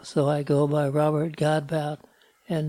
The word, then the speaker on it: Godbout: Well, the name Godbout should be pronounced Godbout. But when I was growing up, my dad got tired of explaining Godbout to people that he just changed it to Godbout.